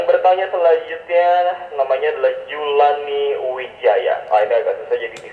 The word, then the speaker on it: Widjaja: Yang bertanya selanjutnya namanya adalah Julani Wijaya.